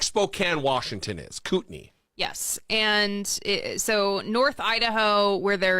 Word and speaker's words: Kootenai: I came across this ad from, and you may have to help me with the pronunciation here, Kootenai County? Kootenai.